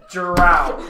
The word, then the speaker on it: Drow: I am It's pronounced Drow.